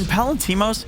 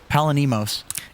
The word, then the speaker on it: Palantimos: When Palantimos is killing people, you get his name right. When he's dying, you always say it wrong. What did I say? Palanimos. Palanimos just sounds more natural.